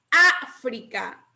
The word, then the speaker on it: África: Ustedes cuenten. Última, penúltima, antepenúltima. Esdrújula. Es una palabra esdrújula.